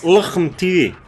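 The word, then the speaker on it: LHMTV: Pronouncing that light tank on the British Tech 3, Luchem TV. It's Luchem TV.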